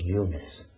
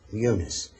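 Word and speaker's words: Yunus: Quran that Jonah or his name actually is pronounced Eunice Eunice and when Eunice left the people of NAA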